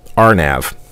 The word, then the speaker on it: RNAV: navigation or area navigation it is pronounced rnav I will give that